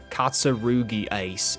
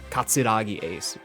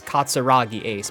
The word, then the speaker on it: Katsuragi Ace: that Ace was mentioned, they always pronounced his name wrong, too. They always called him Katarugi Ace in you know the Australian accent instead of Katsuragi Ace. Katsurugi Ace. No, his name's not Katsarugi Ace. It's Katsuragi Ace, my friend.